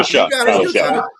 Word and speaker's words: Shough: million a year, and how do you say his name? You're right. It's Tyler Shough.